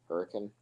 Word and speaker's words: Hurricane: George, Hurricane. Yes, I know how to pronounce the name for anyone who is from Utah who is watching this stream. It's pronounced Hurricane, I know.